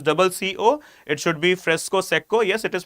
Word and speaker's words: fresco secco: Okay, also pronounced as fresco sesco. Right, though it is double CO, it should be fresco secco. Yes, it is pronounced as fresco secco, but majority of the people, they also pronounce this as fresco sesco.